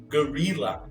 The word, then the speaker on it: guerrilla: Mas eu queria mostrar a pronúncia. Guerrilla.